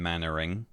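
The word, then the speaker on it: Mainwaring: If you don't know the surname Manoring, you would probably assume it's pronounced it's spelled like that, but it's not.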